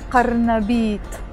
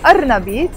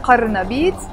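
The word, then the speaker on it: قرنبيط: We say qarnabit, qarnabit. In spoken Arabic, we say arnabit. In standard Arabic, we would pronounce the qaf, qarnabit.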